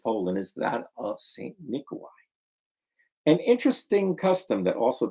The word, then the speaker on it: Mikołaj: Nicholas, or Mikołaj, pronounced Mikołaj.